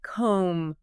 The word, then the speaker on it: comb: Yeah, like comb. The B at the end is silent.